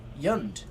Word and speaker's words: Jund: I think the entire Magic community just mispronounces Yund, and it's actually intended to be a Norwegian J. Yund.